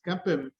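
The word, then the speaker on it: CAPM: capital asset pricing model or how it is pronounced as kepim and and I can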